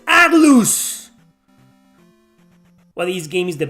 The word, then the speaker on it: Atlus: interested pull an atlus you mean not Atlas oh it's because Atlas everybody pronounce it Atlas Atlas Atlas why can't you say atlus why is it Atlas Atlas Atlas it's atlus what these game is